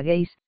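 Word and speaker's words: geis: irlandés de dineen explica el vocablo gays se pronuncia gays plural como una obligación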